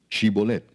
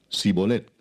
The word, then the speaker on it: Shibolet: Si él respondía, "No, entonces le decían, "Ahora pues di shibolet." Y él decía, "Sibolet, porque no podía pronunciarlo correctamente."